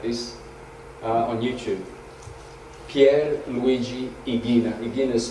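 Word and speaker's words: Ighina: The Italian genius Pier Luigi Igina, he said that in the centre of the sun is a heart that beats at the same rate as our heart.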